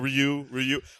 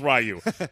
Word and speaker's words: Ryu: I'm a Ryu man. Or Ryu. I called him Ryu because that's what we called him at like 8 when I was 8 years old. Like that's pronounced Ryu. And then I get all the guys that get real snobby about it. It's Ryu. It's Ryu. And then they keep doing like the Japanese accent.